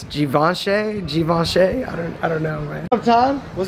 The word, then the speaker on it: Givenchy: They don't have my size in the Givenchy. How do you pronounce it? Givenchy.